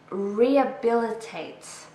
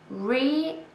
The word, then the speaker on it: rehabilitate: Okay, rehabilitate. 5 syllables. Rehabilitate. So we don't really say the H. Rehabilitate. We stress the third syllable.